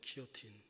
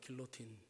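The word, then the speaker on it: guillotine: 근데 이것이 미국 사람들, 영어권 쓰는 사람들은 길로틴이라고 읽어요. 길로틴. 그러니까 원래 그 영어 쓰는 사람도 기요틴 해줘야 되는데 그 영어 쓰는 사람은 파리 더 페리스 그럽니다. 영어식으로 읽어버리고 그냥 니네 따라가기 싫다 이거죠. 그것도 굉장히 그 자기네 그 싸움하는 거예요. 발음 안 해주는 거. 근데 원래 기요틴인데 길로틴이라고 그래요.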